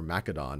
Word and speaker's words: Macedon: and becomes king of Macedon or Makka Don as it's often pronounced in 359 BCE and